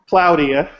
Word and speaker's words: Claudia: oh sorry Claudia sorry I said it wrong I gave you the englew pronunciation hi Claudia well so I'm not going to say all eight of your names so she has a bunch of names but it's cloudia so she's from uh